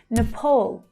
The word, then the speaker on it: Nepal: Nepal. Nepal. So it's the second syllable that's stressed here. And the vowel is the O as in door vowel sound.